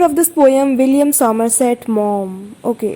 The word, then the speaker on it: Maugham: Yes, by the writer of this poem, William Somerset Maugham. Okay, it's pronounced like mom.